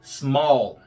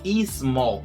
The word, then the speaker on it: small: Se você estiver pronunciando small, você vai dizer que é dissílaba. Mas não existe esse I antes do S não, tá? Não é small, é small. É um assobio antes de falar mol.